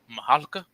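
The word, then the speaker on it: Mihalka: It was directed by George Mahalka. That's how you pronounce his name.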